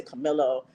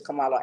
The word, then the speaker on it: Karmelo: Like I want to say Camilo, but it's Camalo Anthony.